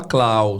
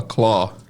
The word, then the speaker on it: claw: Se escreve C a, mas não se fala clau, se fala claw. Claw é a pronúncia, tá?